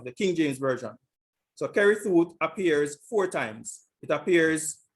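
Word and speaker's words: כריתות: is it is kerrythooth and this is the pronunciation strong's h 3748 kerry thought kerry seuss carrie though second entry carrie thought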